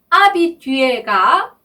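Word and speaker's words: habitué: s가 발음을 하지 않잖아요 그런데이 아비쥬의 할 때 아슈가 나왔었잖아요이 아슈는 불호에서는 소리가 나지 않는 철자입니다 그렇기 때문에 아슈는 없는 걸로 생각하고 뒤에 몸만 발음을 하는 거거든요 그래서 아비 뒤에 이렇게 발음을 한 거죠 몸으로 시작되는이 단어가 수위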